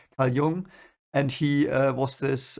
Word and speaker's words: Jung: in in uh um i don't know how you pronounce it in english but you know i will use the german pronunciation because i'm german so young and he uh was